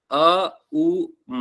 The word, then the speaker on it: ओम: का प्रतीक है क्योंकि ओमकार आप जानते ही हैं कोई कभी ओम नहीं होता है अ उ म होता है अ हम ऐसे उच्चारण करते हैं तो लोगों को